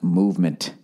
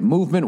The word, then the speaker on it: MVMT: this week all right mvmt watches everybody pronounced movement oh that's what I'm supposed to say all right movement watches everybody was founded